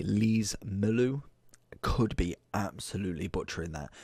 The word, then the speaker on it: Lees-Melou: Today we are looking at what if, I want to say Lees-Melou, could be absolutely butchering that.